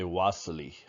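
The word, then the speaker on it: Wassily Kandinsky: russia they would say wassali so the v is pronounced with a w if that makes any sense at all but you can just say vasily kandinsky okay all right so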